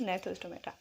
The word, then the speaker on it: Gnathostomata: also called gnathostomaटा, but G is silent here. The right pronunciation is gnathostomaटा।